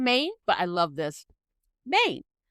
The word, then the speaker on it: Maine: Maine. The E is silent.